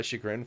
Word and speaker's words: chagrin: I've been saying that phrase to my chagrin for a long time. Just found out it's spelt with a CH. And I just feel it's... What did you think it was spelled? I thought it was an S. I thought it was SHE.